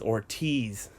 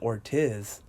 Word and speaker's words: Ortiz: mean everybody knows that the way you pronounce Ortiz is Ortiz in Spanish is Ortiz everybody knows that why is it that you pronounce it or tis I mean again this